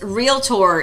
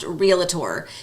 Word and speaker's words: realtor: okay this word is realtor it is not pronounced realator just in case you're